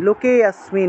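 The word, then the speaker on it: লোকেঽস্মিন্: তারপরে শ্রী ভগবান উবাচ, ভগবান, শ্রী ভগবান, ভগবান আছে উচ্চারণ হবে ভগবান উবাচ, লুকে অস্মিন, লুকে অস্মিন এই যে এখানেও লুকেতে গিয়ে টান দিতে হবে, লুকে অস্মিন, লুকে অস্মিন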